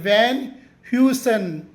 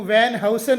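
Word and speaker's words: Van Heusen: ಶಬ್ದಗಳನ್ನು ಕಲಿಯೋಣ ಬನ್ನಿ ಮೊದಲನೆಯದಾಗಿ ವಿ ಎನ್ ಎಚ್ ಇ ಯುಎನ್ ವ್ಯಾನ್ ಹ್ಯೂಸನ್ ವ್ಯಾನ್ ಹ್ಯೂಸನ್ ಇದು ಒಂದು ಪ್ರಸಿದ್ಧ ಪ್ರೀಮಿಯಂ ಬಟ್ಟೆಯ ಬ್ರಾಂಡ್ ಇದನ್ನು ನೀವು ವ್ಯಾನ್ ಹೌಸನ್ ಅನ್ನಬಾರದು ವ್ಯಾನ್ ಹ್ಯೂಸನ್ ಎರಡನೆಯದಾಗಿಸಿಓಎಲ್ಓಎನ್ಎಲ್ ಇದರ ಉಚ್ಚಾರ ಕರ್ನಲ್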